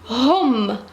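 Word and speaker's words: هم: Il avec S, ou bien E, on dit hom. Ça, le H en français, on ne le prononce pas, mais ici, on doit le prononcer.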